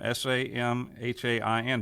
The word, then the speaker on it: Samhain: end-of-harvest festivals of Samhain, S-A-M-H-A-I-N, but that's not the way you really say it. It's pronounced Samhain.